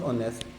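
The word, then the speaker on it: honest: हूं ऑनेस्ट अब ऑनेस्ट में एच प्रोनाउंस नहीं होता है ऑनस की अगर मैं प्रोनंसिएशन लिखूंगा तो मैं क्या लिखूंगा ऑनेस्ट अब इसमें प्रोनंसिएशन किससे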